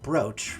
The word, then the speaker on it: brooch: though but excuse me so but it's it's pronounced brooch really so H English is a funny language